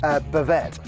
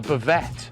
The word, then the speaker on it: bavette: So what we got first is we've got a flank steak, also known in France as, how do you pronounce it, Chris? Bavette. A bavette.